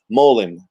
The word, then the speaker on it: Molim: The most common way to say them, it's an easy 2-syllable addition to your vocabulary. Molim.